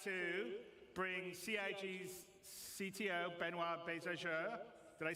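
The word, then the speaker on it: Benoît Beiser: waffling on I'd like to bring C's CTO benoir bezer did I say it right yeah okay good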